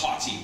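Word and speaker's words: HathiTrust: so what is the honey trust well first of all it's pronounced hot tea as if hot tea right and a lot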